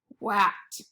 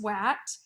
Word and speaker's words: what: What should be pronounced as at, wat. But it is not pronounced wat because this A makes a sound.